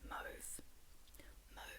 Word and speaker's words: Mauve: By the way, her name is, okay, so I don't know how you say it in an American accent, but in an Australian accent, you say Mauve ASMR.